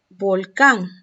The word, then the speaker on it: volcán: Entonces, volcán, mayor fuerza de voz, sílaba tónica, acento en la última sílaba.